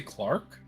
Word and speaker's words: clerk: sorry did you say Clark yes Clark Clark Clark what what is that a clerk I know what a clerk is a clerk is a clerk okay it's generally the British pronunciation and I've been hanging